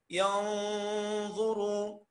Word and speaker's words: ينظروا: ينظروا، عشان ده حرف، حرف ايه؟ حرف النون ساكنه، حرف اخفاء ولا حرف الظاء. اوعى تقول لي ظا، لا هي مش ظاء عاميه. هنطقها ازاي؟ ظا ظا ظا.